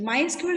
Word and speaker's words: MySQL: of the language the second thing is the mysql is pronounced as my sql it's not a sql